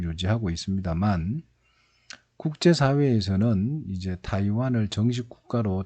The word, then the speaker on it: 타이완: 있고요 그 다음에 이제 타이완 이 있습니다 뭐 예전에는 대만 이라고 읽었는데 요즘 문제다 이관 이라고 할 쪽 이 타이완은 뭐냐면 이